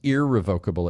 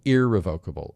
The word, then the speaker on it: irrevocable: Revocable, irrevocable, or irrevocable. So I'm changing the way we internally talk about it. It's revocable and irrevocable. So we're even changing the way we pronounce the word because sometimes it's hard to hear that it's irrevocable.